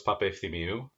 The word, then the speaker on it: Papaefthimiou: your origin story sure my name is papethi mew i am an architect and general contractor here